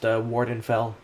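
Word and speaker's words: Vvardenfell: Let's say I'm researching the animals and plants of this region, Vardenfell. That's probably supposed to be pronounced Wardenfell.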